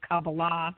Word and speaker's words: Kabbalah: And when I found Kabbalah, and the correct pronunciation is Kabbalah, for those of you out there that kind